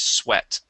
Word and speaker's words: sweat: instead of sweet okay when you see um uh this pairing of of letters together so this this EA okay would then be a short e sound the word is sweat sweat sweat very good